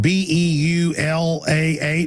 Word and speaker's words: Beulah: KDKT 1410 AM in BEULAH. How do you pronounce that? To show my ignorance. Balua, is that right?